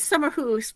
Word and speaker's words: Akershus: It is summer house, but I get made fun of often when I say it correctly. So I thought I'd go for the common pronunciation tonight.